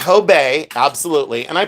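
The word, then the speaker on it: Hobé: Some people will say Hob. They say, "Oh, I think it's Hob." Or they'll say Hobbes. I'll go, "No, it's Hob. I forgive you. It's Hobay.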